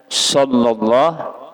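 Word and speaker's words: صلى الله: Huruf sin aja nu huruf shad. Jadi bujurakan membacanya. Shallallahu ala Muhammad.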